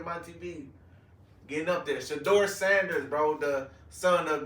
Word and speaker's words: Shedeur: Hey, forgive me if I'm saying his name wrong, but it's Shador, right? Mhm. Okay, I said it right. Look at your boy My TV getting up there. Shador Sanders, bro.